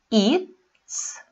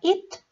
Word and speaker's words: eats: She eats. Никаких особенностей у глагола eat нет, мы просто добавляем окончание s. При произношении читаем глухо, потому что t – глухой звук, соответственно eats получается глухо.